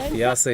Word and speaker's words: fiancé: Yeah, I heard you correct me in the first game when you said fiancé. Is that something more of a preference from her side, or is that how it's pronounced?